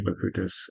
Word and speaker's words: Bakutis: Bakutis. Am I pronouncing your last name properly? Bakutis.